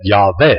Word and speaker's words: Yahweh: So they would have pronounced it something like this, Así que lo hubieran pronunciado algo así más o menos. and which is why I have said Yahweh.